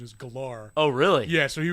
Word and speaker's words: Gellar: Well, no, that's actually from an interview that she did, where she was like, actually, the correct pronunciation is Galar.